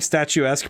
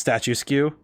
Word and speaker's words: statuesque: I remember hearing statuesque pronounced statue skew.